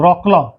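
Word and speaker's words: Wrocław: और पोलैंड सरकार ने अपने यहाँ आज़ादी का अमृत महोत्सव के उपलक्ष्य में अपने एक शहर में रॉकला, WROCLAW, रॉकला प्रोनाउंसिएशन है इसका।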